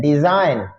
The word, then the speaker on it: design: जैसे हम लफ्ज देखते हैं डिजाइन, DESIGN, डिजाइन। अच्छा देखें इसमें जी की आवाज नहीं आ रही।